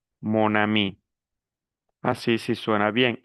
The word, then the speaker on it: mon ami: Si yo digo ma a mí, no suena bien, porque aquí tenemos tenemos aquí vocal. Vocal. Entonces, esto no es posible pronunciarlo. Por eso utilizo el masculino, digo mon, monami.